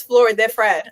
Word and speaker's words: Flōr de Fred: The reason why we added that mark above the O is so that people in English can pronounce it. In Spanish, it is Flor de Fred. Flor. So we don't expect everyone to roll that R.